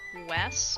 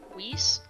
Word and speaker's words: Weiss: So it says, according to psychologist Robert Weiss, I think is how you say this, is Weiss, W-E-I-S-S.